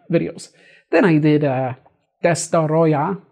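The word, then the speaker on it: Destoroyah: best daughter oh yeah I said it wrong in this video I said destroy ax but it's actually best daughter oh yeah that's daughter oh yeah this door oh yeah four syllables yeah powerful creature you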